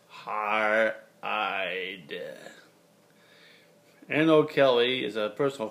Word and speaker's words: Haereid: Two S's, Haereid, or you could say H-A-E is a diphthong, R-R-E-I-D, it's pronounced Haereid.